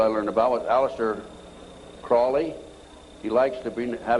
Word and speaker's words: Crowley: learned about with Alistair Crawley he likes to be have his name pronounced Crowley to rhyme with holy and the sadness today